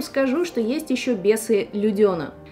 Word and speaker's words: Людена: А я вам скажу, что есть еще бесы Людена. Да, именно так произносится, не бесы Лудена, хотя, мне кажется, бесы Лудена звучит как-то попоэтичней, но «Бесы Лудена».